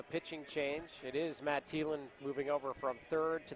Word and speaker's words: Thielen: So the Thielen versus Thielen matchup that we've been waiting for here. Again, they spell their names different. They both pronounce it Thielen.